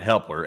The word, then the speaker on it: Hepler: And our next one goes to Helper once again who puts in a five or excuse me, Hepler. I think I've been saying his name wrong. It's Hepler.